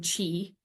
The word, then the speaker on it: qi: This is also called chi or prana, and sometimes it's spelled chi, sometimes it's pronounced or spelled qi, but it's all the same thing, chi.